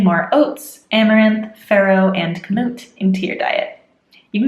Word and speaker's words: kamut: We have kamut, which I looked up how to pronounce. It sounds very silly, but kamut at 153 points.